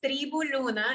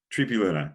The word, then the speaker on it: Tribu Luna: It's Tribu Luna. If you say it in Spanish, it sounds pretty easy.